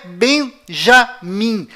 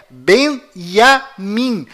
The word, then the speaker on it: Benjamin: é Tchau Além disso não é bem já mim a pronúncia correta é Benjamin pois lembre-se até hoje não existe em hebraico nenhuma letra com som DJ confira é Benjamin metaniarro